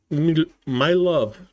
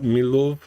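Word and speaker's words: Милове: in the Zaporizhia region, and Milov. No, it's not pronounced like that. Milove in Kherson.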